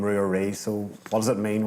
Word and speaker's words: Rua Rí: But I say Rua Rí because I kind of split it up.